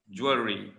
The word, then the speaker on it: jewelry: Jewelry. Not jewelry. Jewelry. Jewelry, two syllables.